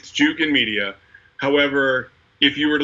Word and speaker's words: Jukin: Is it Junkin Media? Like what's the proper way to go about this? There's only one N in the name. It's Jukin Media.